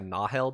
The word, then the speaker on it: Nahel: have to help me with this the the nahil bond it's pronounced without saying that right so it's like a nahel bond is how they say it yeah it's